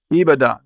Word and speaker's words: Ibadan: David Ajibade received his medical degree from the University of, now I'm not going to pronounce this right, David, Ibadan. Okay. Is it Ibadan? Ibadan.